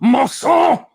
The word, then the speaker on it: Masson: I am, of course, talking about Masson. That's how you pronounce it. It's the correct way.